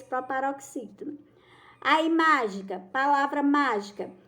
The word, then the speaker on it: mágica: a palavra mágica Olha que ela tá acentuado mágica Qual é a mais forte já dá para